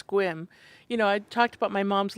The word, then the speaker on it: Sequim: And Mom was like, I bet it's Squim.